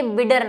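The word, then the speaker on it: Bidder: देख लेना, ये है बिडर नाल। अब यहाँ पे आपके बुक में विडर नाल लिखा हुआ है ना, एनसीईआरटी में लिखा हुआ है, लेकिन ये बिडर नाल है।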